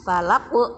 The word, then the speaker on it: falaq: Pada ayat pertama, qul a'udzu birabbil falaq. Nah, falaq qaf ini termasuk huruf qalqalah. Jadi kalau waqaf atau kalau berhenti harus mantul.